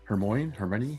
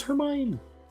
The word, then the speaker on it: Hermione: Well, you know she is sharing I always say her name wrong. Hermmon. Her Hermione. It's Hermione.